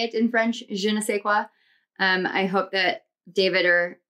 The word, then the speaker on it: je ne sais quoi: It's, I think it's a je ne sais quoi is how you say it in French, je ne sais quoi.